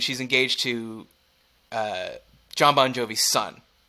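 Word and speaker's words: Bongiovi: a lot and I'm pretty sure it's b-o-n-g-i-o-v-i oh like a real Italian wow last name but still maybe pronounced Bon Jovi uh yeah 100 still pronounced sponge oh okay or pronounced Bon Jovi anyways it's a great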